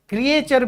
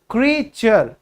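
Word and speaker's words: creature: क्रीचर, इसको क्रीचर भी बोलते हैं, दैट इज क्रीचर। क्रिएचर भी बोलते हैं, यानी कि प्राणी। ऑल, वी ऑल आर क्रिएचर्स, ठीक है, हमें क्रिएट किया गया है भगवान की तरफ से, ठीक है। लेकिन इसकी सही प्रोनाउंसिएशन क्या होगी? क्रीचर, समझ आया।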